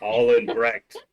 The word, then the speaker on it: Albrecht: Right, Albrecht. All in Brecht. Albrecht. All in Brecht. Yes, Pronounced Albrecht. I put Albert and Brecht together.